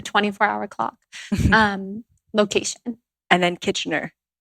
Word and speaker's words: Kitchener: And then Kitchener. How do you spell that? Basically, it sounds like kitchen and then there ER.